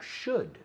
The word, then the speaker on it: should: Okay, so vamos a mirar el debería, should. Otra que no se dice should, que lo he oído 1000 veces, pero should. Should, la L desaparece.